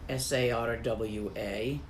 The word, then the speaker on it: Sarwa: Sarwa, S-A-R-W-A, or Tarwa. It's actually not quite a S, but a hard S.